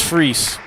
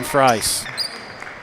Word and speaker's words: Freis: Freis. Okay, thank you. I was told it was Freese when I did my pregame checks. Freis.